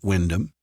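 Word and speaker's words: Wymondham: Grant replied, pronouncing the town's name Windom. Not for the first time, Naomi wondered why so many towns in Norfolk sounded so different to their spelling.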